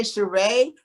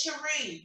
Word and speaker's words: Cherie: No, I want to say Sheree, but I don't think I'm saying it right. It's Cherie, but I like Cher.